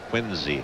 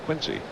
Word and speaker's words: Quincy: Mr. Coleman is from Quinsey. Qu I ny Quinzy. Quinsey Evans fouling one back. There's a Quinzy Massachusetts and a Quincy Illinois, but I never heard anybody pronounce Mr. Adams name as John Quinsey Adams. I always thought it was John Quincy.